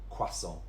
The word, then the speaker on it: croissant: In British English, we just say croissant.